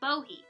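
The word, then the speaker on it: Bohea: party we'll start with bohe this was named in mostly in part due to the english mispronunciation of the wu yi mountain region where the tea comes from most of the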